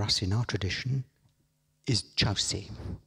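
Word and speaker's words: Kyaukse: very important for us in our tradition is chow si it's it's spelt kyokusei but pronounced chow se and chaos is what i'll call it all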